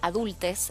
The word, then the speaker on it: Adultxs: pertenecen a la asociación adultes. Está bien la la pronunciación, pero se escribe con X, adultes.